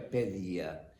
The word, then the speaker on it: paideia: Porque a palavra paideia em grego se pronuncia pedia.